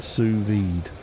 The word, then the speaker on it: sous-vide: low papi no pasta the second S is silent pronounced sous-vide there you go everyone's